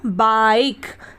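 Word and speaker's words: bike: हम आ ई पढ़ेंगे तो ये हो गया बाइक बी आई के ई बाइक ठीक है फिर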